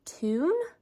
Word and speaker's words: Thun: we might go see the city tune um it looks like Thun if you were to spell it but we might go